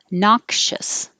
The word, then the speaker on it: noxious: secondary stress here supervisors this x is a ks i'm sorry it's making too much noise noxious noxious embraces embraces unassuming